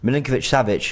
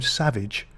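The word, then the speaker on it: Milinković-Savić: I'm still struggling to pronounce his name, and I know we were practicing upstairs. Milinkovic-Savic. Yeah. I kept calling him Savage.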